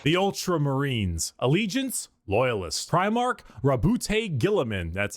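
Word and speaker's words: Roboute Guilliman: Primarch Rabbout Gillamin.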